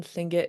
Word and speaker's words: Tlingit: The the L in Tlingit is unvoiced, so you still breathe out a sound.